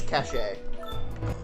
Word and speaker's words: cache: Then, try the one that says cache. I think it's just Let's cash. pronounce it cash.